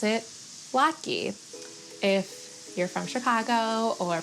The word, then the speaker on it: latke: I'll address the elephant in the room, which is to say that I pronounce it lucky.